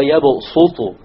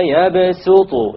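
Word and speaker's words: يبصط: It is to tell you that it is preferred to pronounce it with a sin. So you don't say Wallahu yaqbidu wa yabsutu.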